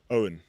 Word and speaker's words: Eoin: Eoin. Owen. Correct. That's Owen.